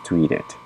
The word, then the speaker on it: tweeted: of the EV um here we have the T and before and after the D we have the Ed so that means we have to pronounce this one as tweeted sorry about that let